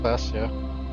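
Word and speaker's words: Klaasje: Classia is pronounced Classia.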